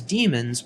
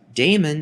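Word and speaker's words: daemon: pronunciation is the same damon is incorrect even though many people mispronounce it now the c code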